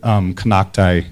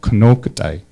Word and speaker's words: Kanaktai: The word Kanaktai is actually mispronounced. It's called Kanoktai, and it actually means old mountain women.